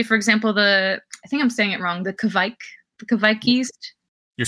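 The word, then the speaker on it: Kveik: Like, say, for example, the Kvik yeast.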